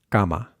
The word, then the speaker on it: cama: that S, cama, cama, and that'll help us find the k sound that we need without aspirating, without going k, k. It's also the same k sound that we have in the word act, act. So you can either take the k sound from scar or from act and apply that to cama, cama.